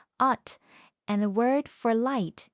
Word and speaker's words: 옷: So even though it's spelled with, the word for clothes is pronounced ot, and the word for light is pronounced bit.